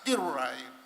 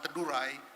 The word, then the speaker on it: Teduray: But as I've said, if you're continuously calling my tribe as Tiruray, because the authors of so many books are from Manila, then they can hardly pronounce the Swa sound, Teduray, then they write it as Tiruray.